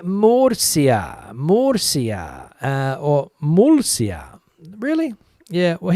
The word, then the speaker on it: Murcia: the S sound, but it's the foreigners that have trouble with Murcia, like the Mersey River, Murcia.